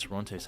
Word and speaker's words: Toronto: lot more than just Toronto's housing market Toronto you have to say it like that he's pronouncing it wrong the true cost of